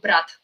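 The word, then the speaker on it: брат: "bro" as in, uh, we say it like "brat."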